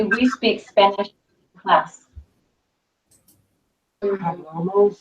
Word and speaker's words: hablamos: Nosotros hablamos. Okay. Vosotros habláis. Okay. And ustedes, ellos, ellas hablan. Hablan. Okay. So how do we say we speak Spanish in class? Hablamos. Hablamos. Remember H is silent.